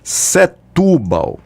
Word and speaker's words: Setúbal: E aí ele traz da cidade dele Setúbal. A pronúncia é Setúbal, que eu vi hoje Setúbal, é Setúbal, em Portugal, pelo amor de Deus.